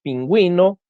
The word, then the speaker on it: pingüino: Cuando la U debe ser pronunciada en las sílabas we, wi, por ejemplo, tenemos pingüino, paragüero, guiro, lengüetazo, lingüística,